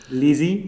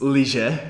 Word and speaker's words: lyže: that's a pronunciation easy lizzy lizzy it's leisure actually leisure sorry but you were